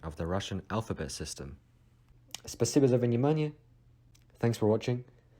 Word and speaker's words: спасибо: For thanks, we have спасибо, спасибо, спасибо. As usual, because O is being de-stressed as A, so we don't pronounce it спасибо, спасибо, спасибо.